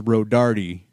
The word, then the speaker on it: Rodardi: D, just so you know, my last name is Rodardi. That's how you pronounce that.